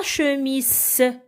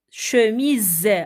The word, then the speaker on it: chemise: ça je mise alors ce n'est pas chez miss non c'est chemise avec le son z à la fin d'accord pourquoi parce que